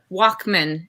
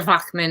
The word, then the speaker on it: Walkman: Yeah, there's been so much conversation about my username, which is H. Walkman is how you say it, or Wachman if you're German, which is my husband's name, and nobody can pronounce it or spell it.